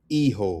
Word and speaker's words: hijo: He ho. It's not he ho. Hijo, which is son.